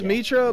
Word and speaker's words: Mitra: say his name e-train interest Mitchell well it's Mitra but he's got he's got this tool you